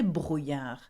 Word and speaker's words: brouillard: Now, to finish, il y a du brouillard. It is foggy. Il y a du brouillard. D'accord? Now that word, brouillard, is quite hard to say. Can you say brouillard? Yeah, with a r sound.